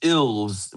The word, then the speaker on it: Ilves: yeah, it's ills, but I don't know. I think some people pronounce it elves, but yeah, so the ILVES instead of ELVES. So the same way you pronounce elves, except it's just an I instead of an E.